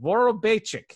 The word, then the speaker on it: Vorobeychik: And I realize, of course, that I did mispronounce it a little bit in my spiel. Vorobeychik is how you pronounce that.